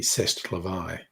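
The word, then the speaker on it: c'est la vie: Say laie, as the saying goes, or as the French pronounce it correctly, cestavi.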